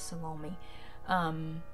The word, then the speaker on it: Salome: But Salome, that's how my grandma calls it. She had an aunt named Aunt Lomi, so that's how they pronounce this, Salome.